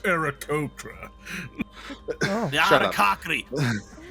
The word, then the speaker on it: Aarakocra: It's pronounced Aarakocra.